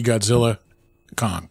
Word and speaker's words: Godzilla x Kong: the theaters and see Godzilla Kong I almost said the X not supposed to say the x x is silent yeah scissors uh was